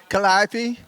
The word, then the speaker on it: Calliope: How do you say it? Calliope? but the Calliope. So that's how we know if you're native or not.